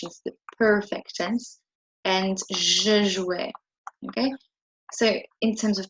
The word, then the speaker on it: jouais: Okay, so you pronounce it the same as if you were saying E accent, except that it's not E accent. So when you hear someone say je jouais, you need to be